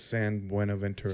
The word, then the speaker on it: San Buenaventura: name is San Buenaventura.